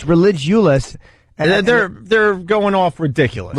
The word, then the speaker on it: Religulous: That Bill Maher movie is not called Religious. It's pronounced Religulous.